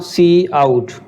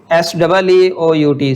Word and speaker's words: cout: और ये जो सी आउट है इसकी प्रोनाउंसिएशन क्या होती है, जो मैं बोल रहा हूँ सी आउट, SEEOUT, सी आउट।